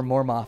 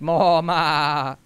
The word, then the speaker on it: MORMO: I'm going to call her MORMO from now on because I'm going to make it a short O, even though I know that's not how it's said. It's MORMO. Like a sheep.